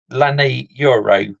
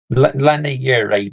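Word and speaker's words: Leny Yoro: yeah but I can't quite recall how you pronounce his name in the moment but Lenny euru that's it Lenny Yuri that's it I got right Lenny Yuri the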